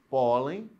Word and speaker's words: pólen: pólen usa a palavra pólen pólen é uma sílaba forte é a penúltima recebeu acento porque porque termina em n é uma penúltima é uma paroxítona terminada em n agora a palavra pólens